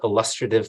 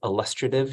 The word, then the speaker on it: illustrative: the key components to illustrative mathematics. It's illustrative, just in case people think it's illustrative.